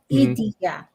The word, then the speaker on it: Idia: It's actually 3 syllables. Idia. Oh, Idia. Okay, the I is okay.